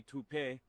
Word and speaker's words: Taupe: Uh maybe toupe. Could be toupe. Yeah, I don't know. Or tote insurance. Maybe. I don't think so. Say it right. That's t o p. That's taupe.